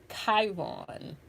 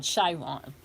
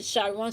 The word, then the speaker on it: Chiron: into the aspects of Chiron. I'm sorry, not Chiron, Chiron. Okay, right? It could, Some people pronounce it Chiron, some people pronounce it Chiron.